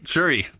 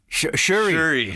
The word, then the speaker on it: Shury: Shury. Shury. Okay, it is spelled like S-U though, right? S-H. Yeah, oh, it is? Okay, yeah. for some reason okay, good, Yeah. good. It's like the microphones, sure.